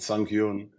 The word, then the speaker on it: Sang-hyun: Am I saying Sang-Hyun correctly? Is that the right way to say this? My name is Sang-hyun. Sang-Hyun. Your pronunciation is correct enough. Okay, I'll try my best to pronounce the right names.